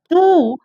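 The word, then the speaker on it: two: टू, टू में W silent होता है, टी ओ जबकि TW लिखा आता है तो W साइलेंट होता है।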